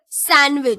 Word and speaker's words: sandwich: So how do we pronounce this word? Sandwich. So D is silent letter here.